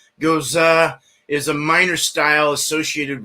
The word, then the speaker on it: Gose: and history some history so the Goza generally pronounced Gaza Gaza is a minor style associated with like lips